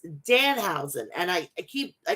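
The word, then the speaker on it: Danhausen: want to apologize now i've been saying the housing it's dan hausen and i i keep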